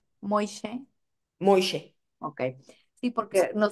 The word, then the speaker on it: Moishe: vista, cuando llegó Moishe a Veracruz, ¿cómo se pronuncia? Moishe.